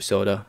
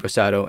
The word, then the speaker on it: Rosado: to the mass public uh compared to gabriel soda uh or sado jesus why am i mispronouncing his name gabe rosado and um so let me know your thoughts